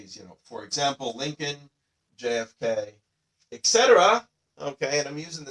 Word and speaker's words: et cetera: Etc. we see it all the time. This is one of those ones that you cannot pronounce as ETC. You have to say the full word etc.